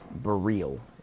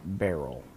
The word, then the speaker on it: Beryl: far as I know it is for real not barrel that is because one thing it is spelled burl ber yl and for another it's named after the element beryllium this is a common polish luxe Nick FB radom naming convention so beryllium is what it's aimed after hence for real the element is not pronounced barrel barrel barrel barrel I